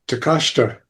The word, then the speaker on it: Takeshita: And I said, Takashita. And he looked at me and says, how did you know how to pronounce that correctly?